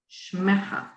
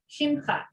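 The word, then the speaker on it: שמך: And your name, Shmecha. Shimcha. Shimha. Shimcha.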